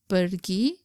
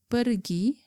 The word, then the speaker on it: pergi: Pergi means to go. Colloquially, sometimes we drop the letter R in the word pergi to become pergi.